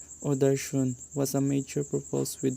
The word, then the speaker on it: darshan: Hinduism was the dominant religion in southern India, and seeing the divine or darshan, pronounced or darshan, was a major purpose with the temple worship